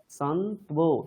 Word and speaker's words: सन्त्वो: হ্যাঁ, সন্ত্বো সবকটা উচ্চারণ করতে হবে, সন্ত্বো। মাধ্বীর্নঃ সন্ত্বোষধীः। মাধীর্নঃ সন্ত্যয়োর্ধীः। কি করবে? সন্তু ও এরকম বলার চেষ্টা করবে, কি? সন্তু, তারপরে ও, সন্ত্বো, তাহলে দেখবে ঠিক হবে, ঠিক আছে? সন্তু ও, সন্ত্বো।